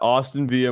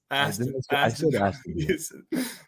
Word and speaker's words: Aston Villa: You got Austin Villa money line with the Saints. I mean, that shit's fucking hidden. Oh, how do you say it? Aston Villa.